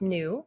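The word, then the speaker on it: ν: Okay, this is a Greek letter pronounced new.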